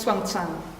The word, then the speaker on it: Hsuan Tsang: spellings of the name but um anyway it's pronounced swans and uh yeah he uh yeah he is